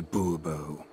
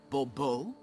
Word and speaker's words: Bobo: Bobo fine Monsieur de boo-boo the emphasis falls on the last syllable Bobo mm-hmm see now I'd